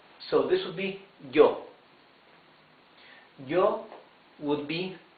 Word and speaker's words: yo: Then we have some Spanish-speaking countries pronounce the Y as sh. Some others, mostly, pronounce it like y. So let's better use y. So this would be yo.